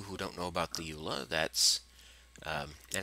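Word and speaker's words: EULA: don't know about the Ula that's um and it's always been in in the Minecraft end user license agreement eua Ula um not everyone pronounces it as a word um it said basically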